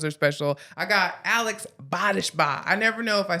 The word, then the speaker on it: Bodishbaugh: mean all episodes are special I got Alex bodishba I never know if I say your name